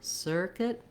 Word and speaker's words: circuit: It's still like sir, but we're just going to be fast. Here we have it long, circuit.